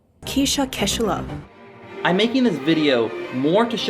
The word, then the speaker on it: Kaechele: This woman is Kirsha Kaechele I pronounce her last name wrong. So here's an actual clip of her last name from a reporter. Kirsha Kaechele I'm making this video